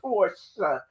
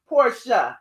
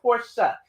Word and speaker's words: Porsche: 10 year old porsche porsha like the white people supposed to say that's how it's pronounced for real porsche so if you're going to the porsche dealership you have to put the a on the end porsha it's really a e